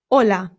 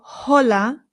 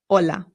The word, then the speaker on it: hola: It's important to note that the H in Spanish is always silent. No exceptions. So, we don't say hola. It's just hola.